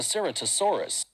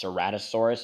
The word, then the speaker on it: Ceratosaurus: made it very similar in aspect to the Ceratosaurus. First of all, it's pronounced Ceratosaurus, and why are you comparing him to Spinosaurus?